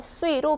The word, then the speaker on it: 岁: 나이는 3살을 의미하는데 수이로 발음을 하시면 돼요.